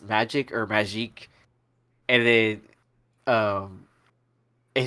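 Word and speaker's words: Magik: I was like, is it pronounced magic or magique? And then, and he actually responded with magique.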